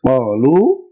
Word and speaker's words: قالوا: Ahkaamul Shamsiya and Qamariya, sometimes there will be letters written but not pronounced. So this Alif is written there. It's not pronounced. It's just for writing's sake. So it is like it's not there.